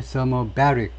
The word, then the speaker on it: thermobaric: thermobaric 발음 깨우가 좀, 이게 thermobaric, IC로 끝나면 그 앞 음절에 여기에 액센트가 있어요.